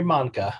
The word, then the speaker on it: Mahncke: my name uh mancha monica kind of rhymes with uh tonka like a tonki truck or a willy wonka chocolate factory and and you're